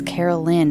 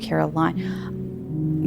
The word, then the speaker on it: Carolyn: But I've met people who spell it with the L I N E and it's not line, it's Lynn. It's Carolyn, not Caroline.